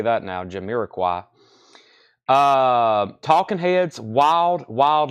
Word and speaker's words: Jamiroquai: okay first two auctions we have test by pronouncing Jamiroquai I got them I know how to say that now Jamiroquai uh Talking Heads Wild Wild Life first auction